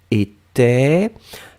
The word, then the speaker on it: était: Et la dernière chose, c'était de l'imparfait du verbe être, troisième personne du singulier, était. Attention à la belle nouvelle, j'avais bien prononcé était, d'accord, était installé.